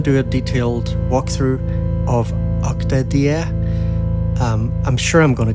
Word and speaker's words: OktaDie: It's supposed to be like Die as in his name, Diego, the developer. So OktaDie.